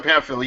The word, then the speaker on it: Pamphile: From what I'm hearing, that Kevin Pamphile, is that how you pronounce his name? Kevin Pamphile, yes.